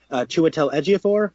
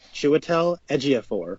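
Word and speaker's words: Chiwetel Ejiofor: it stars benedi Cumberbatch Rachel McAdams mads mlen chel edor that is how you pronounce it chel edor as well as Michael stouber uh Tilda Swinton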